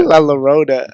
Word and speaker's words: La Llorona: La Llorona.